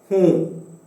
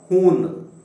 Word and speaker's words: हूँ: And here too we have to pronounce the N with the help of the nose. हूँ. This is not hoon. This is not hoon. This is हूँ, हूँ, हूँ.